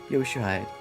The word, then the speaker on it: Yoshihide: I forgot how to pronounce it again. Oh no. Yoshihide. That's how you say it.